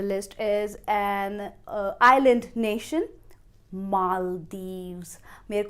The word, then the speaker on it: Maldives: पहले सिलेबल को आपको बोलना है मॉल, और फिर डीव्स, Maldives, Maldives. However, if you look up in English dictionary, you will find that Maldives is also an acceptable pronunciation, but I prefer to speak it as Maldives.